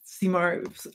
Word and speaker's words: Simard: So the Simard family, Simard, pronounced in French, emigrated from France and